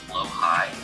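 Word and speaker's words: Blåhaj: It's pronounced low-high.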